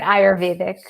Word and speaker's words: Ayurvedic: Shivani Gupta is an Ayurvedic practitioner. Am I saying it right? Yeah, I say it Ayurvedic.